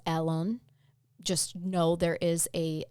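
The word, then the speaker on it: Alun: to tell you his how we pronounce his name is alen how they probably say it is Alon just know there is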